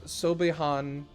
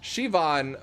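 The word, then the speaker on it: Siobhan: my name is uh sobehan oh sorry shivan very patch thank you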